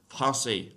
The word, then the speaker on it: Français: That just turns a C into a soft C sound, makes an S sound, right? So like in the word for the name of the French language, Français, or it's an adjective